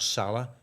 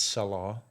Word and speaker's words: Salah: and by the way I'm reliably informed by an Egyptian that it's not Salah it's Salah Salah that's how you pronounce it okay sorry M